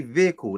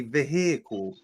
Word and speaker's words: vehicle: How do you think Wally and because I've noticed a lot of Americans can't say vehicle, they say vehicle.